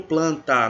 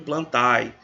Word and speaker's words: Plantae: Animália tá é reino planta não é reino plantae não pronuncia errada reino